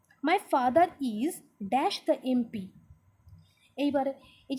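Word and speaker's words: MP: এইবার এমপি, এ উচ্চারণ হচ্ছে এমপি। এ যখন উচ্চারণ হবে, তাহলে দেখেন, my father is dash এমপি, তাহলে এমপি উচ্চারণটা কেমন হচ্ছে? ভাওয়েলের মতো লাগছে না?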